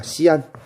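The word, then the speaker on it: Xi'an: D는 서안입니다. 시안. 얘는 서안. 얘를 중국어로 그러면 시안.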